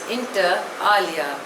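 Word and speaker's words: inter alia: classical music the next word is इंटर एलिया spelling is आई एन टी ई आर ए एल आई ए pronunciation is इंटर आलिया इट इज़ अ Latin word it means among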